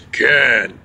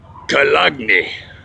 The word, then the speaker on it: Köln: in the city of Köln. That's right. I'll say it again. Köln. They say Köln here. When they say it in German, it's Köln. The other parts of Europe, they say it's Cologne.